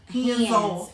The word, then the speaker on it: Handzoff: the right And hands is spelled HANDZ. Z. It's not HANDS. Everybody like hands. It's HANDZOFF. Hands off. Yes. You gotta say it like this.